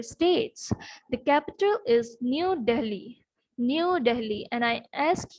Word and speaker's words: Delhi: New Delhi, and I ask you to see the spelling of Delhi very properly, but because if we pronounce it, so we might think that the spelling should be Dehli, but the spelling is Delhi.